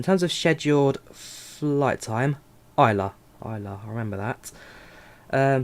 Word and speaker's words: Islay: you live in uh islam jonathan very nice it's pronounced isla is it isla isla isla i've been saying that wrong the whole time well i'm going to